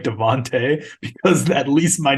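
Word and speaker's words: Davante: has to go against Devonte devontas sorry no it's Devonte it's pronounced okay and uh uh and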